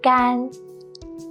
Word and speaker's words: 干: When it's used as an adjective, meaning dry, it's the first flat and long tone. 干, 干 meaning dry, as in 干净, 干净. This word means clean. 干 means dry and 净